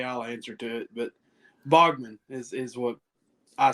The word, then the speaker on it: Baughman: But Baughman is what I say.